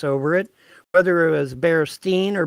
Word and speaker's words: Berenstain: spelled with an a it's spelled bare stain as in a stain on a carpet okay that's the way